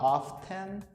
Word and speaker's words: often: Ele tem esse Tzinho no meio que algumas pessoas dizem que não se pode pronunciar, outras pronunciam. Eu, particularmente, ensino meus alunos a não pronunciarem, tá? Então, você não vai falar often, você vai falar often, como se o T não tivesse ali.